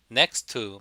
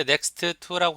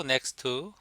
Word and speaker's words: next to: next to. 발음할 때 next to라고 하지 마시고 next to. T 발음이 두 개 겹치면 앞에 게 생략돼서 next to 이렇게 발음합니다.